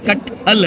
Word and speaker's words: कटहल: और ये तो अच्छा, इसका प्रोनाउंसिएशन जो है उसमें अक्सर मसला, मैं इसे खट्टल कह देता हूँ, वो कहते हैं खट्टल नहीं है, ये कटहल है, शायद कुछ इसी तरह का प्रोनाउंसिएशन है इसका।